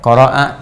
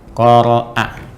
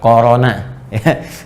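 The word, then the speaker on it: قرأ: Baik, qara'a yaqra'u. Dari kata qara'a, membaca. Qara'a, ingat bacanya qara'a, bukan corona.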